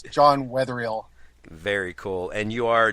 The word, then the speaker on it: Wetherall: name for me before we joined sure I'll pronounce it for you it's John weatherill very cool and you are Developer evangelist correct